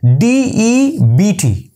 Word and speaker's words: debt: Next, D-E-B-T. So correct pronunciation is D-E-T, debt. Okay, debt, not debt. It's debt.